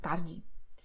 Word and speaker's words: tarde: What is the same to say that E at the end of the word will be pronounced as I, like tarde.